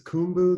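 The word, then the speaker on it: Khumbu: Is Kumbu the correct Yep. The pronunciation? Kumbu.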